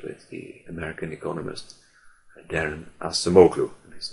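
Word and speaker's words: Acemoglu: explanation is associated with the American Economist Darren asamu and his name is spelled surname is spelled a c e m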